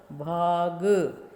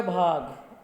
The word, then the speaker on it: भांग: भय आ ग अ, भाग। एक तो हो गया भाग, सीधा हमने बोला। दूसरा है भांग, ऊपर चंद्र बिंदु लगा करके फिर इसका उच्चारण करेंगे तो क्या होगा? भांग।